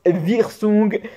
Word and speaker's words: Wirsung: Ici, la canal principale, ce qu'on appelle la canal de Wirsung, aussi appelée Wirsung, parce que W-I en allemand, elle prononce Wirsung.